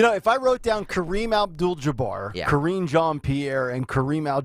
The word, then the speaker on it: Kareem Abdul-Jabbar: We all know Kareem Abdul-Jabbar, right? One of the great Laker legends. Yes. Joe Biden tries to pronounce Kareem Abdul-Jabbar.